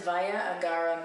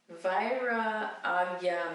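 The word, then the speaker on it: Vairagya: This next one is Vaya Agara Mudra. No, let me pronounce this. Vaira Agaya Mudra. Agya. This next one is Vaya Agya. Vaira Agya Mudra. This next one is Vaya Agya. Vaira Agya Mudra.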